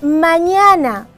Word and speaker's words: mañana: ni n ni s la palabra Mañana mañana es una palabra grave que termina en a Por ende no se le marca la tilde solo se pronuncia su acento las palabras esdrújula se